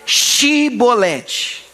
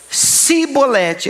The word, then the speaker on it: chibolete: Então fala aí, chibolete. Aí tem um problema, porque se ele era de Efraim mesmo, ele dizia cibolete, ele não conseguia falar, saía, eles não conseguiam pronunciar, pois o povo de Efraim não consegue pronunciar essa palavra corretamente.